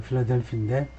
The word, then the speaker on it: 필라델피: 그 액센트는 뭐 똑같이 필라델피, 어만 없지. 그 발음은 거의 뭐 비슷하고요. 필라델피인데.